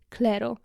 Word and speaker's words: Clairo: gracy chapel i uwaga moja nowa miłość Czyli clero pisze się cirro i to jest taka Indie popowa